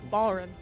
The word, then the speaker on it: Balrin: Balin. Oh, sorry. Balrin. Sorry. Balrin. It's the way it's spelled. My freaking brain moves the letters around. Yeah. It takes the R out.